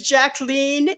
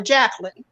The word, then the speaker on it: Jacqueline: said my name is jacleen it rhymes with Queen okay there you go so people don't get confused and call her Jacqueline oh there we go